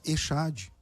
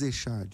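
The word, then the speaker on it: אחד: Só que o CH do hebraico não se pronuncia como o CH do português, como na palavra chapéu. O CH do hebraico, ele vem do alemão. E o CH do alemão é o R.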